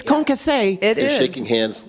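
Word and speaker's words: concassé: dictionary and it said that the pronunciation is concasse.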